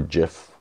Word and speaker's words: GIF: saving option including now saving in JPEG and gif file types or jiff you want to pronounce it and there improving the menus so